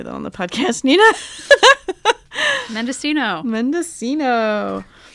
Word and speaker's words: Mendocino: baking in the oven totally yeah that's interesting mendocino sure i pronounced it mendocino earlier and selena laughed at me she was like don't say that on the podcast nina mendocino mendocino it's part of the north coast what